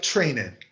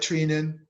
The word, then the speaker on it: Treinen: But Blake Thierry Blake Trainin. And let me pronounce it correct because he's a hero for Dodgerland. I apologize to all the Dodger fans for mispronouncing his name. Blake Treinen gets 2 strikeouts.